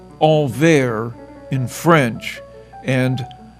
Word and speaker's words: Anvers: Antwerp is pronounced Anvers in French and Antwerpen in Flemish.